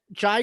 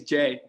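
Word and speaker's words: Jae: I said Jai instead of Jay. It's Jay.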